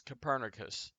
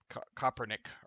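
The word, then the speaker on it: Kopernik: most known by that he was probably uh copernic or something like that would have been how they pronounced his name originally in Polish because he is he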